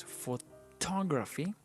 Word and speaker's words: photograph: And we have the words photography, because the intonation is, the stress is in the to syllable. So it's photography, but we say photograph.